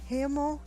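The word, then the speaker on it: haemo: The Latin prefix for blood is H-A-E-M-O, hemo, and in Greek it's haema, and sometimes it's spelled with a H in front of it. These were then modified to hema and hemo in English.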